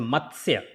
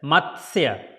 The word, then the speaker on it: Matsya: It is a Matsya. T is almost like silent. So it's a Matsya. Matsya. Matsya.